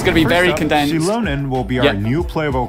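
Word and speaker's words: Xilonen: Shilonen will be our new playable character in version 5.1.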